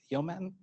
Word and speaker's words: Yeoman: tool for this based on human yeoman so that's how you say it and all you have